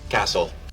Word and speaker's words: castle: one guys is is Castle Castle as you can notice it right here this letter T is silent okay I do not